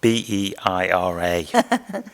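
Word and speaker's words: Beira: yeah thank you the um I may be pronouncing wrong b-e-i-r-a Northern Mozambique it's not even a unep project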